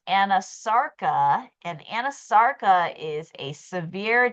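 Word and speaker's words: anasarca: okay have to look it up so it's pronounced anasara and anasara is a severe generalized swelling of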